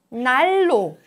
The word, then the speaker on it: 날로: Ordinarily, when you read it separately, 난로, 난로. Difficult to pronounce. So, 날로, 날로, 날로.